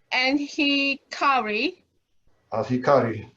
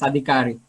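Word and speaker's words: Adhikari: one will be um anari alari yes M I'm not pronouncing your name correctly I'm sorry correct it's correct profor actually it's adikari okay yeah I had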